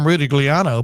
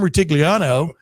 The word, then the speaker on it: Rutigliano: Sam, as I like to mispronounce it, Sam Rutigliano, but Sam Rutigliano was a hell of a pro football coach for several years there.